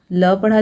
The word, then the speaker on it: lope: Then LOPE, एल को ल पढ़ा जाएगा, ओ को ओ, पी को पढ़ा जाएगा प, और ई रहेगा साइलेंट, तो ये क्या हो गया? लोप, मतलब छलांग, ठीक है।